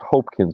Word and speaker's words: Hopkins: it's spelled Hopkins but it is pronounced Hopkins because the O is long I am hope I